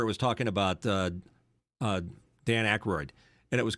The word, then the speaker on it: Aykroyd: But I was watching one where it was talking about Dan Aykroyd, and it was called Dan Aykroyd, and it kept saying when Aykroyd did this, I kept saying it's Aykroyd, and I was literally pissed off at the